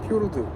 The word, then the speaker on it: 피오르: 예, 그래서 이 피오르드, 우리 이제 피오르드라고 이야기하는데 정식 명칭을 이제 피오르라고 그러더라고요. 피오르. 예, 뒤에 이제 보면은 그 니로 하는 게 발음이 안 되는 부분이에요. 그래서 노르웨이 가면 이제 피오르. 피오르. 예, 근데 우리는 이제 그냥 글자 그대로 이제 읽어서 피오르드라고 그러죠.